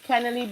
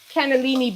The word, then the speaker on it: cannellini: Cannelli beans add a lot of umami to the dish. Great flavor and great texture. I don't know. I had cannelli bean. How you say it again? Cannellini beans. I don't know.